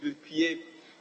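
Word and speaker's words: Gbulpie: Speaker, there's a community called Bulpie. It's Bulpie. It's supposed to be G-B-U-L-P-I-E, Bulpie. Bulpie.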